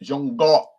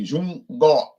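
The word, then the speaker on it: 中国: China is pronounced Zhongguo in Chinese. So in Chinese, they say Zhongguo.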